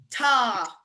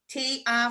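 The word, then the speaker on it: tá: So a fada, like somebody falling in love, is ah. Ta, T, a fada. And the Belfast accent, we tend to ignore that fada, but I promise you it's important. So when you hear me say ta, mega maith, it's wrong. I should really be saying ta.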